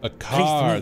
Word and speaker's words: Bakar: Bakar, that's how you say it.